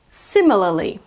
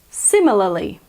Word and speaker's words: similarly: it's called a flap T so the American pronunciation is literature literature word number eight is similarly similarly I'll say it slowly see me la similarly to be honest this word is also sometimes